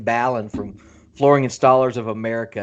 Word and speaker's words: Ballin: I keep mispronouncing his name, so Yeah, it's not Ballin for sure. It's Mr. Ken Ballin from Flooring Installers of America.